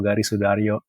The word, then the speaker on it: Gari Soedarjo: So the yo is ejaan lama, so it's with a J. So Gari Soedarjo.